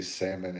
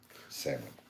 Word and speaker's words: salmon: I think people have chose to say salmon and make the L silent because it's it just sounds cleaner. Salmon, salmon, salmon, salmon.